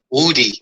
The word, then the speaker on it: Woody: Could you tell us how the name is pronounced and the world how the name is pronounced? It's Woody.